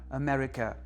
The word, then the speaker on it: America: Un vrai mot de quatre syllabes sans suffixe, sans préfixe, c'est America America quatre syllabes. Donc si je compte à l'envers, l'ultième c'est ca, la pénultième c'est re et l'antépénultième c'est me. America America accent sur l'antépénultième, c'est logique.